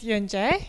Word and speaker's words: Yun Jae: a better picture as well my name is Jen chieh you pronounced it right my name actually has a